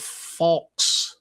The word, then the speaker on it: Falx: R1, To the Aid of Falx. That's how it's pronounced.